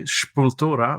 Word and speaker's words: Sepultura: the big, like Sepultura, or as my friend Andre Loja would say, Sepultura, which is how they pronounce it in Madeira.